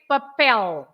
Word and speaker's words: papel: okay very similar because you say paper and you stress pay paper and we say papel papel because the last letter